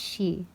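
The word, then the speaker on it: Sidhe: we did it oh it pronounced she okay she is the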